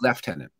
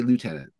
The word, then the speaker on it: lieutenant: So in the British Empire, in the British Commonwealth, it is lieutenant. Right. Americans say lieutenant. Or lieutenant. Yeah, that's very interesting.